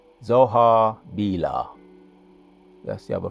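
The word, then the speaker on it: Zoar: Those other cities, let me go again for pronunciations. Admah, Zebohim, and Zohar, Bela. Zohar, Bela, that's 1 city.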